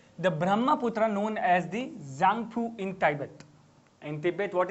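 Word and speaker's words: Tsangpo: So the Brahmaputra known as the Zangpu, okay, T-S-A-N-G, that is what they call as Z. They pronounce T-S as in Z, obviously.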